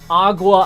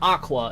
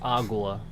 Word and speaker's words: agua: agua probably would write it's not Aqua it's agua agua Azul I don't know I